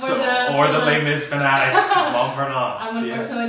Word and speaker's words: Montparnasse: the role of, I don't know how to pronounce that. Montparnasse. Okay, Montparnasse for the unversed, or the Les Mis fanatics. Montparnasse.